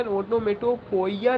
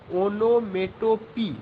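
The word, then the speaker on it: onomatopoeia: The correct pronunciation is onomatope. There are only 3 syllables, onomatope.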